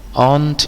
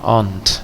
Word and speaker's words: aunt: Aunt Ija, ini bacanya ingat ya, aunt, jangan aun, itu sering sedengar aunt.